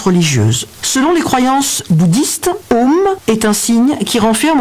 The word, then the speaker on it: Om: Je vais vous communiquer une petite chronique de monsieur Bruno Roche-Péris sur les secrets et significations du symbole bouddhisme Om, qui s'écrit A-U-M. Om, la syllabe qui renfermait tous les secrets de l'univers.